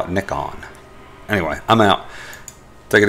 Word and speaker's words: Nikon: I found out recently that it's actually pronounced Nikon, no matter what us Americans think. We had a little discussion about it, and in Japan, they pronounce it Nikon.